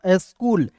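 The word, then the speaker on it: school: फिर देखिए यहाँ पे सी, आप देखिए सी का उच्चारण यहाँ पे क के रूप में करेंगे, डबल ओ है तो इसका उच्चारण बड़ा के रूप में, एल का होता है ल, स्कूल।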